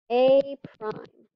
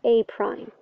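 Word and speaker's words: A′: Now, technically they're ticks, but we pronounce it A prime. A prime. B prime. Right? So the mathematics is that it's a little tick mark, but you pronounce it A prime.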